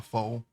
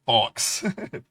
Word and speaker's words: faux: Sometimes, when I was younger, I said fox, fox bob. That's wrong though. I'm pretty sure it's faux. It's a French word, I guess.